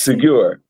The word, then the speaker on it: Segure: Segure. rhymes with secure, but I can't walk around telling people all of that.